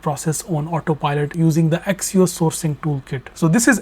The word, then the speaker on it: Accio: But there is a brand new way to put your entire procurement process on autopilot using the Accio Sourcing Toolkit. So this is Accio Work.